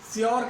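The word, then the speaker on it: sure: ए की आवाज आएगी, ऊ और ए दोनों एक साथ चलेंगी, ऊ की आवाज और ए पे खत्म होगा। जैसे कि हमने इस शब्द को खूब सुना है, श्योर कहते हैं श्योर, मैं श्योर हूं, ये श्योर नहीं है, ये क्या है, श्योर, श्योर, श्योर, ये सिंबल्स हैं इसके लिए, श्योर, पू ए, जैसे हमने पुअर वर्ड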